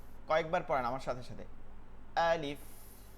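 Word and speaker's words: ألف: আলিফ আ আ leaf আ leaf আলিফ আলিফ। কোনোভাবে টান দিবেন না, আলিফ এরকম না।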